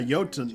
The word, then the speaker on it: Jotun: Yeah, Jotun, and it's a soft J though, but The softest J. Barely even there. Sounds like it's with a Y though.